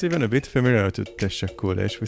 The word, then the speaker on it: teşekkürler: In Turkish, you say teşekkürler. Teşekkürler. So Mustafa. Of course, Mihail. How do we say in Hebrew? Actually, it sounds even a bit familiar to teşekkürler.